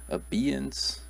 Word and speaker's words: abeyance: pronounce this one is it a baiance abeyance abeyance how would you pronounce this one it's actually abeyance so and